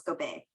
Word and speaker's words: Gobeil: uh francisco bay or montico bay so it's go bay um but i'm not marianne okay that's it